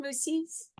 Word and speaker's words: Mussies: Is that how you say it? Mussies? Correct. Yeah.